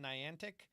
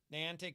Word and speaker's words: Niantic: of n how do you how do you pronounce that Niantic Niantic Niantic Niantic lab business for $3.5 billion